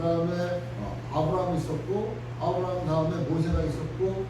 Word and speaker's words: 아브라함: 아브라함. 요즘에도 이스라엘 그쪽 중동적 팔레스타인 지역 가면은 아브라함. 그러니까 여러분 아브라함 링컨 알죠? 그것도 우리가 그냥 영문 발음으로 에이브라함 링컨이라고 그러지만 그게 아브라함이에요. 아브라함.